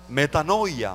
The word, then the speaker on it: metanoia: sobre el reino arrepentíos en su original se pronuncia metanoia meta novia quiere decir